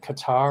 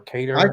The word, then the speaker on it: Qatar: Um the same with that with that how do you say it? Qatar or cutter or cater. Well BBC calls it cutter so that's why I call it cutter.